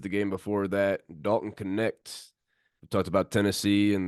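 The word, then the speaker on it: Knecht: Okay, I know I'm going a little guard heavy right now, but dude, Dalton Connect.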